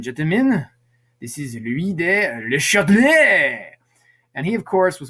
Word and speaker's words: Le Chatelier: Le Chatelier is principal, if we say it correctly. Le Chatelier, is the correct way to say it.